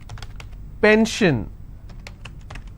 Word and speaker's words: pension: SION, tension, pension. So how many syllables in tension? 2. Tension, I will stress on ten. If I have pension, I will stress on pen.